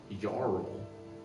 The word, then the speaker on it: Jarl: Let me talk to Did you just say the Jarl? I thought that's what she said. Yeah, it's pronounced Jarl, my guy. Jarl.